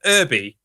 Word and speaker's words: Irby: It's called the Irby, to rhyme with Herbie, I imagine.